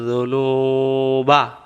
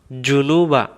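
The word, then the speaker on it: الذُّنُوبَ: ওয়ালা ইয়াগফিরুয যুনুবা, এখানে নুন অক্ষরটা এভাবে বলবো, ওয়ালা ইয়াগফিরুয যুনুবা। এই জাল অক্ষরটা জিহ্বার আগা থেকে আমরা পড়ব। আমরা অনেকে বলে থাকি ওয়ালা ইয়াগফিরুয যুনুবা, জুনুবা।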